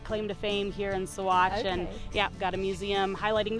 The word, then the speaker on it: Saguache: So it is pronounced Saguache, okay. Not Saguache, which is a common misconception, but yeah, it means water at blue earth.